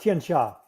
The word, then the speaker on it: Tianxia: Yeah, you mean it's pronounced Tianxia.